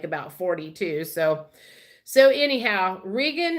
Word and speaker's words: Regan: So anyhow, Regan, it's R-E-G-A-N, here, R-E-G-A-N, or Reagan, as we pronounce it in the States, Hillyer, Regan Hillier.